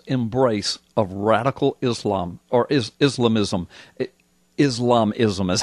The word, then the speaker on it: Islamism: The title is The Baffling White House Embrace of Radical Islam, or Islamism.